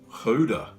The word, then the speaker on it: Gouda: mine at work yesterday and he mentioned that guda in Africans is pronounced Huda so Hoda maybe that's because African's language stems